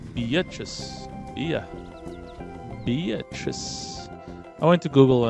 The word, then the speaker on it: Bea: Bia. Who some people... I won't say names, but...